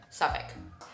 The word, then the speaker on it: Suffolk: At first, my new Suffolk, how do you pronounce this again? Suffolk.